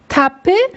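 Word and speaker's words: تپه: Teppe demek tepe anlamına geliyor. Tepe anlamına ama Farsçada teppe olarak söyleniyor.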